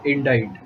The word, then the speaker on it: indite: Next word is indite. INDITE. Indite here means write and compose. Write or compose. We have also read one more word, INDICT, which also is pronounced similar to this word, but it has a different meaning.